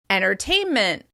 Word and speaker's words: entertainment: You may hear that first /t/ sound disappear, so the words sound like "ennertainment," "ennertaining," "ennertainer."